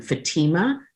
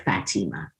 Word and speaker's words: Fatima: I'm now going to change my name to Fatima instead of Fatima because the stress isn't on the fat.